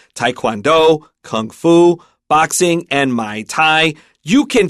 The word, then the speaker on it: Muay Thai: And then, with there, since there's a U there, I'd say Muay Thai, but I'm not really sure, to tell you the truth. Yeah, I will say this one pretty confidently. Muay Thai is what a lot of the guys really into martial arts like to say, because people that love